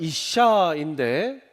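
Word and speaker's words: אִשָּׁה: 그리고 쌍시옷 시옷 발음이 나오고 이 밑에 우처럼 생긴 게 우리나라 말 모음 아입니다.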